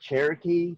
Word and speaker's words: Sherokee: It's Sherokee, right? Or is it Cherokee? It's actually pronounced Cherokee, but it's spelled Sherokee.